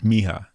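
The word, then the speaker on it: mija: just Spanish for daughter J is an H Miha Miha okay yeah I couldn't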